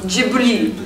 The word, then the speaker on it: Ghibli: U: Jiburi. S: *whispering the pronounciation* Jiburi...